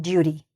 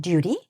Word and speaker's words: duty: You can pronounce the T here, or you could not. You could say it like on duty. North Americans would probably say on duty, but I think it